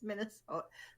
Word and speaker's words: Minnesota: No, it's Minnesota. Sota, not soda.